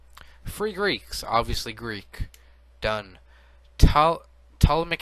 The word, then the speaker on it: Ptolemaic: Ptolemaic Empire, you don't pronounce the T.